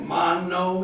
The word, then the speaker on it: mano: How do you spell that? Metate? M-E-T-A-T-E. Okay. Metate, and this is called mano, M-A-N-O, handstone.